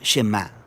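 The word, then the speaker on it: שמע: oye o escucha y en hebreo se pronuncia chema de ahí es de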